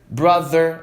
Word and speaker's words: brother: Other, brother, mother. TH vibrado vai ter som de Z.